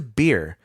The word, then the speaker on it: Beer: there they journeyed to beer that's correct it's spelled b e r just like that beer hell yeah that that